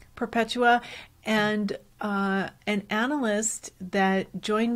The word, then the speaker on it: Perpetua: I don't know how to pronounce that correctly. How would you say it? I would say Perpetua. Perpetua.